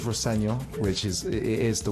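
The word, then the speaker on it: Rosenior: My dad says Roseno, which is it is the way to pronounce it, but as long as it's nice.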